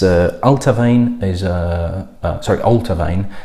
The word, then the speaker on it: Allt-A-Bhainne: time sequence oh honey it's altar vein is the pronunciation and it's the distillery's